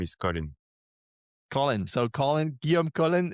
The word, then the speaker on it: Colin: That's my first name and my last name is Colin.